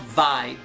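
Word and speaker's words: Vay: It's called vi. V a y, which is funny because in Japanese it's probably called by by vi. V's usually are b sounds for the most part.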